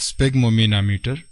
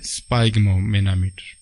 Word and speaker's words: sphygmomanometer: यह लफ्ज स्पेग्मोमेनामीटर प्रोनाउंस होता है, न कि स्पाइग्मोमेनामीटर।